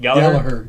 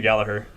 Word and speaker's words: Gallagher: Gallagher. Nice. Mr. I was going to throw the G in there. Gallagher. There's no G in Gallagher, there. no G.